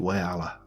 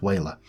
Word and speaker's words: Whaler: I always get criticised for, I always want to pronounce it Wayala, and it's not, it's Whaler.